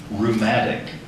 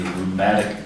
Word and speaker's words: rheumatic: Benjamin Franklin, Henry VIII, and my Uncle Tom all suffered from gout, a rheumatic disease. Rheumatic. Rheumatic. R-U-U-M-A-T-I-C. Rheumatic. Close, but not quite as R-H-E-U-M-A-T-I-C. Silent letter in there.